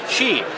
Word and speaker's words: Qi: is the fun part we're here uh at Chi which I just learned how to pronounce it's not f as we've been mispronouncing